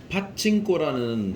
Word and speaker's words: 파친코: 파친코라는 한국 드라마가 지금 전 세계 1위거든요. 파친코. 옛날 빠찌코를 영어로 발음한 건데 예.